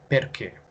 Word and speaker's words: perché: forchetta per lui alla scheda scheda final eight perché perché lo studente ha ripetuto facilmente le parole dimostrando di aver compreso la pronuncia delle sillabe pertanto andrò chiedere un'ulteriore conferma